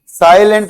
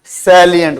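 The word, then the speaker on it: salient: हुआ है या नहीं साइलेंट नहीं होता ये साइलेंट साइलेंट नहीं बोलना सैलिएटंट वन साइलेंट की स्पेलिंग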